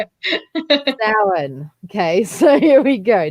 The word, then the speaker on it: Samhain: And every time I see the next one, number 8, I always say it in my head exactly as I read it, but it's not how it's said. Samhain.